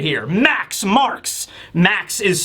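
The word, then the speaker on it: Marx: It's this dude right here, Max Marks. Max is spelled all in capitals, and I think Marks is spelled M-A-R-X.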